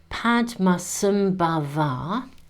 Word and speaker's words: Padmasambhava: So the great Indian master, Padmasambhava, and they've given me the pronunciation here, was called to Bhutan from Tibet